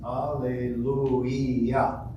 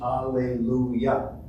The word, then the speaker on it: Alleluia: Alleluia has 4 syllables. I'm sorry, 5 syllables. Alleluia. 5 syllables. We're used to in English, Alleluia. So we have to get used to that.